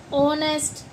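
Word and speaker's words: honest: लेकिन यह जो वर्ड्स हैं आवर ऑनेस्ट और भी है ऑनर इको इनमें एच का यूज़ साइलेंट हो जाता है।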